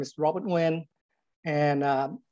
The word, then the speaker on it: Nguyen: Again, you know, my name is Robert Nguyen, and it's spelled N-G-Y-E-N. It's not Nugent.